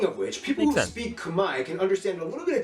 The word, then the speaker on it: Khmer: kumai yeah that's right all this time you thought it was khmer right no it's kamai to be fair i did pronounce it as khmer for i don't know how long r is silent and the e is an i the cambodian language is